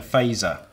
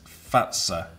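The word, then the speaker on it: Fazer: So we've been saying Faser, and this says Finnish pronunciation is Fatsa.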